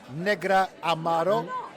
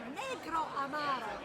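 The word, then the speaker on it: Negroamaro: prefer the first one tell me how to pronounce it negro Amaro Negra Amaro negro Amaro negro Amaro I thought I said that the first time you did oh well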